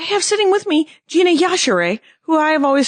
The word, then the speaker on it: Yashere: It's Yashere. Yashere. Yeah. Pronounce the E, people.